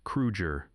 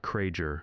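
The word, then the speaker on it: Krueger: You pronounced his name correctly, Kruger, not Kraeger, my my ger, because he could hear the difference and he would remember.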